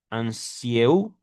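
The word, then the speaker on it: Anzieu: Mencionemos asimismo el documental El autoanálisis de Freud y el descubrimiento de del psicoanálisis 1959 de Didier Onu Ansieu, lo estoy latinizando, no se pronuncia así en francés, quien en las páginas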